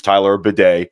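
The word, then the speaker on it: Tyler Badie: Denver uh Denver Broncos apparently Tyler bad's proper pronunciation is Tyler bedet that's the only thing I really learned about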